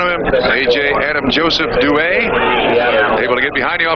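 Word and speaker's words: Duhe: 18 yd line by AJ duay and that now is the preferred pronunciation no more AJ Dey that's says that's also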